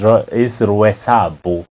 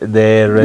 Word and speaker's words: Roysambu: But people could not pronounce Royal Suburbs. So is Roysambu. Right, no, that's a Kikuyu way. That's a Kikuyu way. You see now the Roysambu.